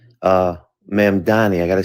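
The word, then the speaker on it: Mamdani: I work in the city and I like the fact that Mandami uh Mamani I got to say his name right Saran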